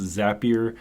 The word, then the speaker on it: Zapier: It's actually pronounced Zapier according to their Twitter, but it looks like Zapier because it's similar to the word rapier, the old swords.